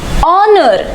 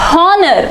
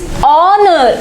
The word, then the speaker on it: honor: Observe carefully, this is pronounced as honor, not honor. So here the letter H is silent. So hence the sound starts with O, that is honor, A sound.